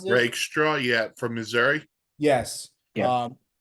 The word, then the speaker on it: Rakestraw: Is that how you pronounce it? Rakestraw, yeah, from Missouri.